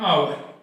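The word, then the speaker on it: hour: अब इसको अपन पढ़ेंगे आवर। इसका उच्चारण किससे प्रारंभ हो रहा है, आ से। उच्चारण किससे हो गया, आ से।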